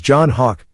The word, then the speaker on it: João Roque: The matches announced were 139-pound limit Dennis Hall, 1996 Olympic silver medalist in Greco-Roman, versus João Roque, pronounced actually as John Hawk, 1997 weight class world